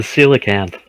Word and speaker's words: coelacanth: Well, so should the coelacanth. See Okay. what? Isn't that how that's pronounced?